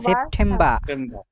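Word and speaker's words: September: October হবে না বুঝছেন এই যে র টা উচ্চারণ হবে না সেপ্টেম্বর সেপ্টেম্বর বার হবে না এই যে ধরেন বার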